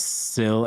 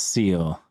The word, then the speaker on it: sill: own assistant at work pronounces sill as seal I try to emphasize sill every time I have occasion to say it but it never works